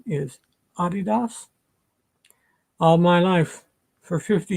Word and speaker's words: adidas: adidas is based in london and it's correct pronunciation is adidas all my life for 50 years it's been adidas it's what we always say oh i want